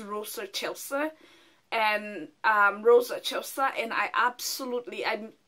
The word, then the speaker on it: Rosa Excelsa: It's Rosa, it reads as Rosa Excelsa, but it's pronounced as Rosa Excelsa.